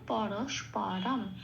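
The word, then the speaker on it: परस्परम्: তাহলে আমি প্রথম শব্দটা সংস্কৃত উচ্চারণ কি পেলাম? পরস্পরম।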